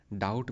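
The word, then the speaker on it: doubt: वाह निक नेक डाउट में B silent है।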